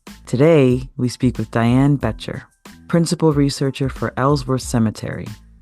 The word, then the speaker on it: Boettcher: hi I'm Diane beter It's pronounced beter like you beter life I am the